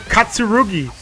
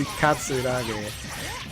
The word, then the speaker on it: Katsuragi: Unless that's how you're supposed to pronounce it, but I play the game enough and I've watched the anime to know that they say Katsuragi.